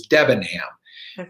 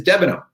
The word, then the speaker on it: Debenham: everybody came to america they changed the correct pronunciation and and have adopted how we now pronounce my last name which is devin hamm we're from a small